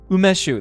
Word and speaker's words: umeshu: Umeshu.